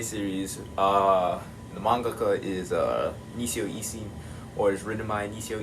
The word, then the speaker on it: Isin: Is it Isin or is it Ishin? It's I-S-I-N, so I think it is Isin. That's weird. That's just not like Japanese pronunciation.